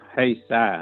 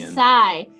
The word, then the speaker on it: Haysi: Tonight we have David Yates from the Haysi Club. Is that right, David? No, it's Haysi. It's a long I at the end. Haysi.